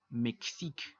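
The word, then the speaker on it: Mexique: no tiene tilde pero la equis cumple una función de doble consonante por así decirlo la equis es como una k s esto hace que la aunque no tenga tilde se va a pronunciar de forma abierta méxico y como méxico es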